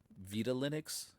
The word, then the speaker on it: Vitalinux: Yeah, this this has been my experience with uh Vita Linux is how I'm going to pronounce it. Um because it's Spanish.